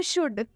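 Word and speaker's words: should: एक और एग्जांपल देखिए शुड काफी सारे स्टूडेंट्स इसमें गलती करते हैं इसे शुल्ड पढ़ देते हैं और इसे कुड पढ़ देते हैं जो कि इनका बिल्कुल गलत उच्चारण हो जाता है सही उच्चारण सीखने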